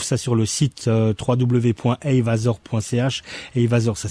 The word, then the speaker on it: Heyvasor: Eyvasor, ça s'écrit HEYVASOR.ch.